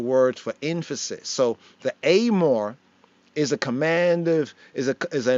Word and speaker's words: אמור: Some might read it as Emor, but the pronunciation of pointing is Amor.